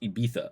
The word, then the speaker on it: Ibiza: to be good um abises in spain pronounced ibiza okay uh a well-known